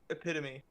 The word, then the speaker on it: epitome: I say epitome epitome it's not my fault the words written like that it's one of the few words that all the all the letters are pronounced that's an English problem